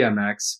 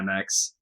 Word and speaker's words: EmX: the MX or as I always refer to it as the emx but apparently it is supposed to just be the MX oh wow I didn't